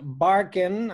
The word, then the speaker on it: Barkan: guest tonight is Ross Barkin I believe I'm pronouncing that right yeah that's good yeah like Ellen Barkin but the spelling is different different spelling yeah yeah